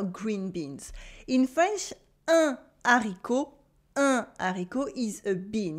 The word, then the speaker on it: haricot: You have a silent T at the end of haricot. We don't say haricot, but with what we call un H aspiré at the beginning. This is a rare instance where the H is silent but creates a cut. So there is no liaison.